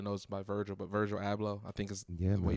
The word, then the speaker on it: Abloh: And, man, I mean, the world just really knows by Virgil, but Virgil Abloh, I think is the way you pronounce his last name.